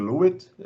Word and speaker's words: Luit: Yes, pronounced well. I'm Lewitt, as they say in English.